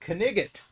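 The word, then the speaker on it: knight: so end up with words like night K N I G HT which historically was pronounced kot yeah cool but we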